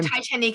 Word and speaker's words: Titanique: that's it and so titanique is spelled TI i t a n i quu e Titan it's the the premise